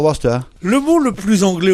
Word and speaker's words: Worcester: Il faut pas dire Worcester. Worcester, il faut dire Worcester.